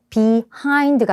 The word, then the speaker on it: behind: Aide이 장소에 있는 사람이 누군가 말하는 사람 얘기하나 했더니 behind me 여러분 역시스ing e a i가 강세가 없잖아요. 그러면 슈화 현상이 일어나서 이에 중간 발음이나 어 발음으로 난다더니 behind가 아니고 강세가 여기 있죠.